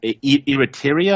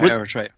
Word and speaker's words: Eritrea: It's us and a little despotic little country in Africa called Eritrea. I don't even know if I'm even pronouncing it correctly. Yeah, Eritrea.